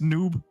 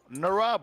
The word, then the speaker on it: Narub: It is not pronounced noob. No, Narub with N-R-U-B. Narub.